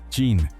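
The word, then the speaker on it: Qin: El nombre China que usa todo el mundo viene de esa dinastía Chin, que se pronuncia Chin, pero eso es el pasado y el presente.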